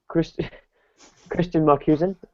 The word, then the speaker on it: Kristian Markusen: Kristian Markusen. Have I said that right? That is a beautiful pronunciation.